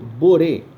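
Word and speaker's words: בורא: A palavra criador em hebraico, boré, se escreve com bet, vav, resh, aleph, boré.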